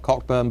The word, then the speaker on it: Cockburn: I'm not responsible, but all Cockburns carry this mission through life: is your name is spelt Cockburn, but you pronounce it Cockburn.